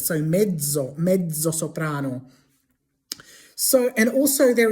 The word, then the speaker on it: mezzo: In English, we say things like mezzo soprano, but in Italian, it wouldn't be pronounced like a tz. It will be pronounced with a dzed. So, medo, medoprano.